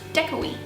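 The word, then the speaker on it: děkuji: one thing we learned was thank you it's pronounced decoy good so far a little few bumps along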